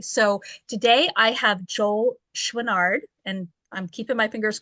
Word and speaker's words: Chouinard: today's guest today so today I have Joel schard and I'm keeping my fingers crossed I pronounced that correctly again did good job oh